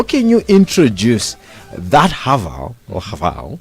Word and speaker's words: Haval: It's Haval. Haval. It's a play on words, Chinese to English. Basically, have it all.